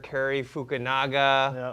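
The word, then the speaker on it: Cary Fukunaga: I have to congratulate the director, Carrie Fukunaga. That's how you pronounce his name.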